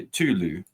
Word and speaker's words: Cthulhu: Some people would even say Tulu. By the way. Interesting. Yeah, I've heard that pronunciation. I don't know. Cthulhu, I say it how I see it.